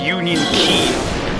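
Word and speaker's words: Union χ: Yeah, but by the way, for anyone else reading in the chat, that X, it's pronounced Union Key.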